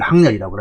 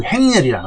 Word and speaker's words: 항렬: 자, 그래서 이 항이라고 읽을 때는, 항렬이라고 읽을 때는 같은 또래, 차례, 순서, 이럴 때, 이런 의미가 있을 때.